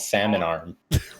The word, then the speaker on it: Salmon Arm: to call it, called Salmon Arm. what? Salmon arm, Yeah. like a fish.